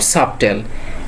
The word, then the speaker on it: subtle: And final one is not subtle, this is subtle.